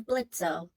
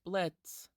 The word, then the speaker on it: Blitzo: The original version of this question mentions an imp by the name of Blitzo, and... It's pronounced Blitz. Come again. It's Blitz. The O is silent.